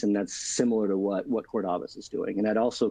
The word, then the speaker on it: Cordavis: of a company called Cordavis. And it is Cordavis, not Cordavis.